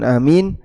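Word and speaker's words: آمين: Satu, dibaca dengan dipanjangkan A-nya sehingga bacanya amin. A-nya berapa harakat, Pak? Dua harakat. Seperti mad badal.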